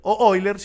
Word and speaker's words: Euler: el número y el número de euler oilers y lo pronunciamos en alemán a diferencia de pi